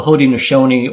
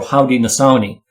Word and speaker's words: Haudenosaunee: But they call themselves the Haudenosaunee or Haudenosaunee, depending on which nation. Again, there's 6 different nations, so you got slightly different pronunciations.